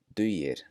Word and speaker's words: dugir: Dugir, dugir.